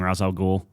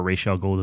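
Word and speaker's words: Ra's al Ghul: video of Batman fighting Roswell ghoul yeah or racial goal depending on your pronunciation sure and it looks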